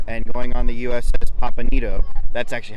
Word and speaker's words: Pampanito: historic pier 45 and going on the USS pampanito that's actually how you have to pronounce it I decided to actually take a